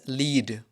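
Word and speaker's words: lead: इसको हम पढ़ते हैं एज लीड। इसको हम पढ़ते हैं एज लेड।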